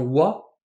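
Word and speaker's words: は: On continue avec les particules d'emphase, la première étant wa, que l'on écrit avec le hiragana ha mais que l'on prononce bien wa, qui permet de faire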